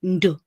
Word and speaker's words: Ndu: People always ask me with my name, Ndu. Is it Nduko? Do you pronounce the N separate from the D? Do you pronounce them together? And I always tell them the ND is one sound.